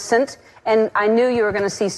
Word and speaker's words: Saint: We were sending all these names, and she sent St. Vincent, but it's pronounced Saint, and I knew you were going to see Saint and go, do you remember that?